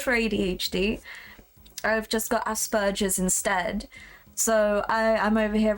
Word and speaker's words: Asperger's: We pronounce it Asperger's in America, I guess. Isn't there a P in there?